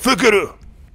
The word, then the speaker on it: Fukaru: And of course we're gonna go with Fukaru. And yes, that's how you're supposed to pronounce it. That's actually French.